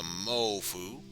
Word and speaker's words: mofu: And of course, the mofu. Moufu. Mofu. Oh, excuse me. The f is silent, so mofu.